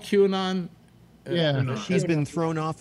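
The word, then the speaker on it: QAnon: believes in in queue or not is it q anon is that how it's pronounced yeah which that's the other one well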